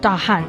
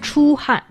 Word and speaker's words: 出汗: If you want to say you are sweating, it's not 大汗, it's 出汗.